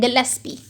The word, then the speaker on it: गिलेस्पी: Recently फिर हमारे पास दो साइंटिस्ट हैं, ठीक है, निलहोम एंड गिलेस्पी। क्या नाम मैंने बताए हैं, निलहोम, और दूसरा है, यहाँ पर भी एल आता है लेकिन वो साइलेंट है, गिलेस्पी।